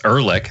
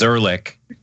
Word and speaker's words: Ehrlich: By the way, I think did I mispronounce that guy's name, Rankin? Rankin? I don't know, but that's Ehrlich. That's that other guy's name. I know you've never seen that name before, but his name is Ehrlich.